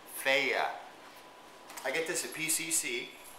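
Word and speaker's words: Fage: okay we got the feya feya yogurt that's how you say it okay doesn't look like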